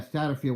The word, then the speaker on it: Satterfield: Scott Satterfield, if I'm pronouncing that correctly? Yeah, Satterfield.